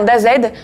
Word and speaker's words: Dazed: le Pandawa et Dazed car oui ça se prononce bien Dazed le roublard au cours